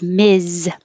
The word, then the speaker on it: Ms: a title to somebody if it's Miz it's Ms with no Dot and it sounds like Ms sounds like Miss I guess I'll go